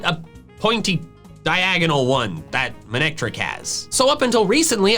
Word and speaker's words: Manectric: The official one is Monectric. Monectric. It's a combination of main and electric, which makes sense because it's an electric type with a main.